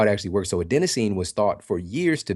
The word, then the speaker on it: adenosine: go so good man and then is it a Denine is that how you pronounce it oh yeah adenosine so that was a lot of people don't